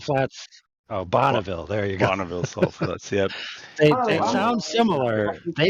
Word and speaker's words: Bonneville: how are the Bolivia it's not Flats oh Bonneville there you go they sound similar they sound similar though pronounced it wrong yeah I know Bonneville neither